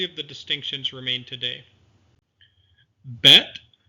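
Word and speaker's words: בית: Bet, with the dagesh, that dot in the middle of the letter, is pronounced b as in boy. Without the dagesh, it's pronounced v as in voice.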